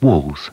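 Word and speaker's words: Wall's: M no M walls thick meaty sausages are pronounced walls he wouldn't WS now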